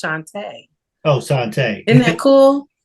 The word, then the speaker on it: Chantea: other guests um Ms tanti hey Andrew so what do you want to know and my name is it's actually pronounced Shantae oh Shantae Isn't that